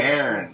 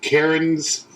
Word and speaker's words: Cairn: Yeah, Cairn. People would call it like Cairns. It's one syllable, isn't it? It's supposed to be one syllable, Cairn.